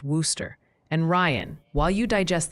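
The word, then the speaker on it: Wooster: Multiple witnesses say Worooster, Ohio is pronounced Worooster.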